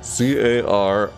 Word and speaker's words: Carrat: Yeah, C-A-R-R-A-T, Carrat. Because it's Year of the Carrat. That's how it's spelled, Carrat. Carrat, like Carrat. It's like a carrot, and a rat put together.